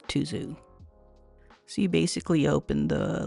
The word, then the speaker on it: Tuzu: actually pronounced to like this so the correct pronunciation would be tuu but I'm going to go with tuu because that's pretty much well what everybody's going